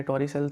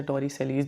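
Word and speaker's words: Torricelli: इसके टॉरिसेल भी बोलते हैं, इसे टॉरिसेलीज भी बोलते हैं, आप कोई भी इसमें जो प्रोनाउंसिएशन यूज़ कर सकते हैं, इसमें कोई हार्ड एंड फास्ट रूल नहीं है।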